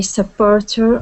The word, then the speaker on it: supporter: Now, remember, with that T at the end of supporter, okay, instead of saying supporter and pronouncing that as a T, we would pronounce that as a D.